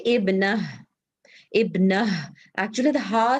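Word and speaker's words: ابنة: So if you have to say it properly, Heba, you will say Ibnun, Ibnun, and Ibnatun.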